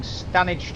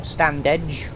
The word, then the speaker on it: Standedge: Right, so we will shortly be approaching Stanage Tunnel. Or Standedge, depending on how you want to pronounce it.